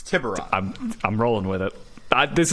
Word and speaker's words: Tiburon: There's many pronunciations. No, there's not. It's one. It's Tiburon.